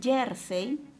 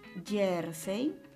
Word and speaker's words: jersey: por ninguna razón y la palabra jersey es una palabra policy la dica la mayor porción de voz está en la penúltima sílaba termina en letras y